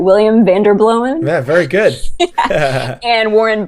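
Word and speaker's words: Vanderbloemen: make sure I say his name right William Van der blowin ya very good and Warren bird and Baker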